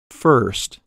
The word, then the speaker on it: first: Their spellings differ by only one letter, the letter R. However, there's a dramatic difference as to how they're pronounced. Listen. Fist, first. Did you notice that the vowel sounds are different?